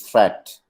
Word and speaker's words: fret: Watch out for meat and great and fret. They rhyme with sweet and straight and debt.